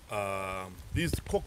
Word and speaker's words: Koch: So these Koch brothers.